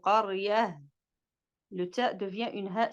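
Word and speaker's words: قرية: Et comme j'ai dit, quand on a une ta marbouta, on ne va pas dire qaryata, tu vois? C'est pas qaryata, non, c'est qaryah.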